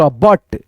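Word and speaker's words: but: लोग क्या लिखा है बी यू टी है तो यू का उच्चारण यहां पे ज्यादातर दोस्तों अ की ध्वनि आता है जैसे यहां पे ब उसके बाद से ट बट जैसे सी यू एल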